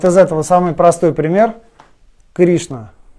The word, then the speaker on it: Кришна: Кришна. Ш, Н. Вместе идут Ш, Н, Кри, Ш, Н, А. Поэтому И, она будет под ударением, она будет долгой. Кришна, ударение на И.